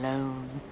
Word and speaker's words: Lone: such a good name tom lone rhymes with cone phone bone not that rhyming's all